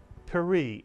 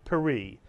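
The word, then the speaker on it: פרי: and the word is per mitsu it's not P but per a one syllable word and if you add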